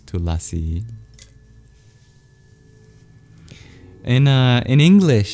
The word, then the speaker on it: Tulasi: in Hindi and otherwah deleted Indian languages it's pronounced tulsi but in Sanskrit it's tulasi in uh in English it's holy basil.